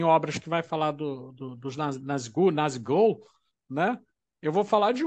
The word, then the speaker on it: Nazgûl: Eles têm o nome de Nazgûl, que na pronúncia é Nazigûl.